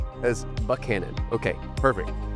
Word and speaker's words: Buchanan: But we not and it's spelled the same. Yes. As Buck Cannon.